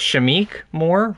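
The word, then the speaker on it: Shameik Moore: got uh sh i i believe his name's pronounced shamiq more right yeah yeah they got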